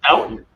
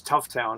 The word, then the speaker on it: Stoughton: Tufton, they call us Tough Town occasionally. Drop the S.